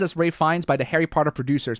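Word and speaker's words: Ralph Fiennes: I've only heard his name pronounced as Ray Fines by the Harry Potter producers, but he has a brother in acting Joseph.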